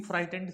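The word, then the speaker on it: frightened: FRI, फ्राई। GH silent होता है तो फ्राइटेंड, फ्राइटेंड। यहाँ पे G और H दोनों के दोनों साइलेंट होते हैं।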